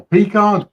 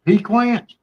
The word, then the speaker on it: pecan: It's pecan. It's not pecan. Pecan is what you keep beside your bed at night.